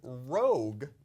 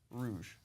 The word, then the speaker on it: Rogue: PlayStation 3 Assassin's Creed Rogue mhm also known as Assassin's Creed Rouge that is true that is another pronunciation of it uh no no not true at all uh impression that's aable